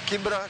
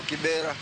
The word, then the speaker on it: Kibra: But mane okuche obiro to gi jok mamoko to pronunciation no change from Kibra to Kibera.